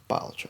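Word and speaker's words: Balatro: on this yesterday um it's pronounced B sorry batro it's Latin question for Jester oh nice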